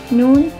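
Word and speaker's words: ن: Noon has the pronunciation of Ne, just like the Ne in Man, and it is a place with the K.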